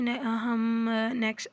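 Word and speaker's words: knock: इसको बनानास करते हैं जैसे नॉक में के है इसको हम नहीं कहते नो में के है मतलब जानना उसमें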